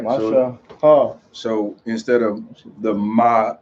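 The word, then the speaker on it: משה: Mashak. No. Stop. Mashak. Isaiah, you want to teach? Wow. All right. There's no K in it. Can you say it again? Mashah.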